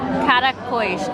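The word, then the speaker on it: caracóis: dish of snails called caracoish. Did I say it right? You got it.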